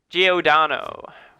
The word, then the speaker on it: Giordano: Giordano.